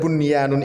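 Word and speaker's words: بُنْيَانٌ: Tidak boleh dibaca dengung, ya, harus dibaca jelas. Bunyanun, bunyanun, bunyanun. N-nya ditekan, ya, nun sukun ditekan sahabat Quran. Nun sukunnya ditekan.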